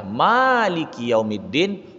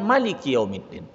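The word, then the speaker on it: مالك يوم الدين: Itu terjadi 2 cara baca. Ada yang pendek Maliki Yaumiddin, ada yang panjang Maliki Yaumiddin. Tapi dalam masyarakat kita ini memakai yang panjang ya, Maliki Yaumiddin, bukan Maliki Yaumiddin.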